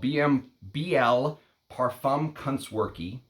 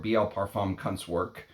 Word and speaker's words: Biehl Parfumkunstwerke: And the house is called Biehl Parfumkunstwerke, or Biehl Parfumkunstwerke, I think is how you're supposed to pronounce it. Biehl Parfumkunstwerke, which basically in German